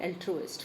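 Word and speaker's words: altruist: एल्ट्रुइस्ट इसको प्रोनाउंस करते हैं एल्ट्रुइस्ट।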